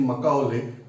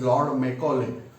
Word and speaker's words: Macaulay: You are aware that Lord Macaulay, some people are saying Macauley, but the spelling pronunciation is Lord Macaulay.